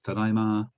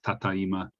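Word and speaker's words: ただいま: when you've returned home tadama uh in some parts of japan people pronounce this as tatayma but this is so rare that some japanese people don't even recognize this as being japanese okay any questions good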